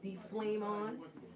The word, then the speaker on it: DFLEMON: Name pronounced D Flame On.